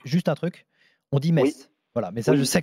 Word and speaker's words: Metz: des choses comme ça contre une équipe comme Metz donc quand on va jouer les gros du championnat comment ça va se passer quoi alors Frédéric juste un truc on dit Metz voilà mais ça je sais que c'est pas